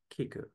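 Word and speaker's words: 聞く: he points out that Japanese has two different characters to write listen even though they are pronounced the same way Kiku the first character simply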